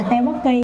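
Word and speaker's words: 떡볶이: Mình đọc là tteokbokki, cái chữ eo nó không có đọc là eo mà là o, thì nó vẫn là tteokbokki nha mọi người.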